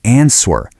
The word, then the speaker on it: answer: Do not say answer. Just pretend the W doesn't even exist. It's answer. Go ahead, try saying it out loud right now.